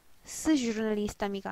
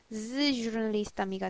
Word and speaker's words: с журналистами: 왔기 때문에 이 발음이 스 주르널리스타미가 아니고 즈 주르널리스타미가 돼요. 이 즈 발음이 나요. 그래서 발음을 할 때 들어보시면 이 발음이 스가 아니라 z로 온다는 걸 아실 수 있어요.